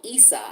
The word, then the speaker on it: Isa: so this particular room this symbol is called esa it's spelled isa this symbol talks about